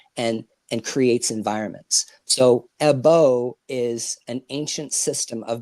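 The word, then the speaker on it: ẹbọ: when you say ebo is that is it pronounced ebo AJ because blood is AJ or AJ no we just say EO which means um sacrifice or appeasement okay you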